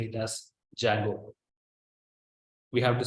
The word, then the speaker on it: Django: to say it as Django we have to say test Django the D is silent so we have to pronounce it as Django so Django is a